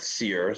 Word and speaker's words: Cyr: a meaning behind that well cyr right pronounced seer so there's obviously yeah